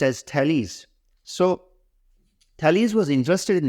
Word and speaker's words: Thales: the first philosopher was thales thales of melitus pronounced as thales so thales was interested in natural philosophy undoubtedly